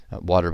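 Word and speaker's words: Watir: as selenium or water water by the way is spelled w a t i r my guess is that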